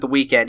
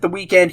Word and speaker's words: The Weeknd: R&B singer the week I I refuse to pronounce it the weekend if he wanted me to pronounce it the weekend he would have spelled it like that but